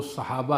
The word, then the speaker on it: صحابہ: صحبہ، صحبان، صحابہ، صحابہ، افسخ جو تلفظ ہے وہ صحابہ ہے، صاد پر زبر فتح، صحابہ بھی پڑھ سکتے ہیں۔ تو صحابی صحبت